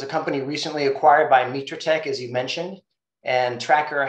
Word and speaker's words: Mitratech: now integrated within, I guess you pronounce it Mitratech? Right, yeah. Tracker has been acquired by Mitratech, and we are folded into and have integrated into the Mitratech organization. It is pronounced Mitratech.